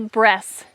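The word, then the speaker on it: Bresse: It's called the breast chicken. It's spelled B-R-E-S-S-E.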